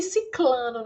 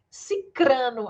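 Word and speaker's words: sicrano: falar muito fulano e ciclano né não é ciclano viu é ciclano cicrano a pronúncia viu já até isso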